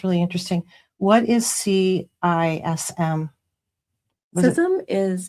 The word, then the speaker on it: CISM: CISM is it's pronounced CISM.